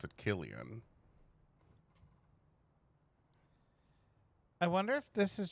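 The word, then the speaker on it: Cillian: I I well I finally realized that you pronounced it Killian I wonder if this is just showing us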